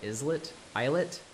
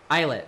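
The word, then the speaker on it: islet: Is it isllet? Whichever. No, I couldn't possibly call it a that word that I can't pronounce. Somebody, somebody in the chat, save me. Save me. Ilet. Okay. I thought so because it's like eyelet island, but yeah.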